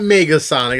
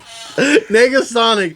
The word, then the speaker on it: Negasonic: It's not Megasonic. A lot of people get that confused. Or is it Megasonic? Am I saying it wrong? No, nigga. What you say? I planned that to happen. I bet you. I was fishing for that. Negasonic teenage. What was that?